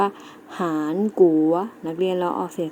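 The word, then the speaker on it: 韩国: เกาหลี ใต้ เกาหลี ใต้ เรา จะ ออก เสียง ใน ภาษา จีน ว่า หาญ กรุ วัด นัก เรียน เรา ออก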